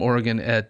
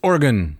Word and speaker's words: Oregon: Right, and then when I met people from Oregon in college, yes, they said they would not stand for it. It's Oregon. Oregon. I would say Oregon.